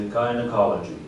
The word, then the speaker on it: gynecology: 再念一次 gynecology 啊，因为 g 本来就有个跟 j 两个发音啊，上次有讲过。